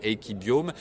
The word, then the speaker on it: Equibiome: Voilà, Equibiome, l'ai-je bien prononcé ? Absolument, Equibiome, et juste parce qu'on n'a pas beaucoup de temps.